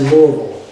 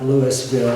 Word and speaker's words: Louisville: I was born in Louisville, Kentucky, pronounced Louisville, Kentucky, not Lewisville or Louisville or some of the other variations.